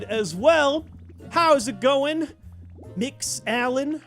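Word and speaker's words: Mx: Oh, it is pronounced mix or sometimes monks. I've heard it mix.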